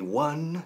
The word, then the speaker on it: won: We won, se pronuncia como un número uno, won.